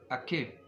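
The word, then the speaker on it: עקב: Se dice Akeb. Ayin, Kuf, Bet. Son las letras de las que está formado este nombre.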